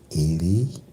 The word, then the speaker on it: Ely: Mr. Ely, pronounced as Ely, came from a long